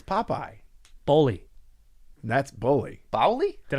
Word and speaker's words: Popeye: pie pie yeah really pie pie no it's popeye bully that's bully baoli